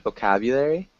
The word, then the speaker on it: vocabulary: of vocabulary vocabulary yeah try to get that maybe strong u sound vocabulary but other than that